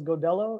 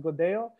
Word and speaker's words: Godello: Um, the two L's is is a Y sound. So, a lot of people uh will mistakenly call this godello. It's it's actually pronounced godo.